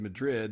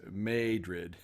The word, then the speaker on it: Madrid: friends in Missouri did when I said Madrid and they told me that no Larry it's made rid so tell me how